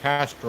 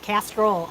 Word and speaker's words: castor: internally and externally, and castor oil. I even said it right that time. You did. Castor, not castrol oil. That is the oil you buy at the auto shop.